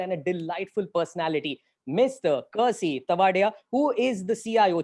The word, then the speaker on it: Kersi: It's pronounced as Kersey.